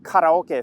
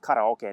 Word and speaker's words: karaoke: A little bit of karaoke for you to start this video off. And yes, it's pronounced karaoke, not karaoke.